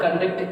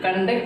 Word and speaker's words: conduct: So the stress is used on first syllable ka when the word conduct is used as a noun. Whereas when it comes to the same word conduct, C-O-N-D-U-C-T-E-T, conduct, and also same pronunciation conduct, and if it is used as a verb, stress is on second syllable.